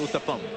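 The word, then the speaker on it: uttapam: Where I had an utapa for dinner. Utapa for dinner. Yes. What is an utapa? It's actually pronounced uttap.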